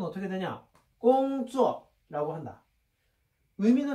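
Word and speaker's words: 工作: 그래서 중국 발음은 어떻게 되냐? 꽁쭈어라고 한다.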